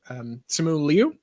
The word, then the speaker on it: Simu Liu: Simu Liu, is that how you say it?